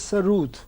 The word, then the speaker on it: sarod: The actual pronunciation is Sarud with double O.